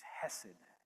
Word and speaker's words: Hesed: It's not grace, but it's it's it's hessid is is how it's pronounced.